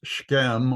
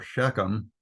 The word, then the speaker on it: Shechem: I think one of the first places that he stopped was Shechem, or Shechem.